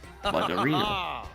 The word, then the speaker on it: Bardolino: That's how you say it. Bardolino.